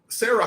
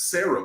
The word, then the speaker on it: SCERA: Sarah High School, they used to nickname it US Sarah because all those guys, because it's spelled SCERA, but they would always go, you would start at Sarah and then you went to USC.